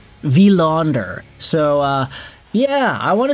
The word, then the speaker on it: Willander: Wanderer. Willander. Wanderer. No, it's a V. V. Technically not V. not a wi vaunder.